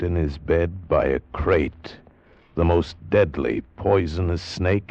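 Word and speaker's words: krait: what kind of a guy Harry Pope was and what kind of a snake a crate is. First, the crate. You spell it K R A I T.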